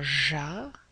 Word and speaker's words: j'appelle: Très bien, on va éliminer le ER, mais attention à la prononciation. On va dire j'appelle et on va se retrouver avec un autre L.